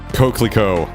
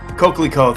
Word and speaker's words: coquelicot: I would say like coquelicot? Like, how do you say it? But it's coquelicot.